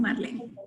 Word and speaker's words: Marlene: Se escribe Marlene, pero me dicen Marlene.